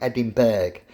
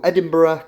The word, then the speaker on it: Edinburgh: thing it looks like adding bag it's bag is actually pronounced borough so Edinburgh Castle okay so number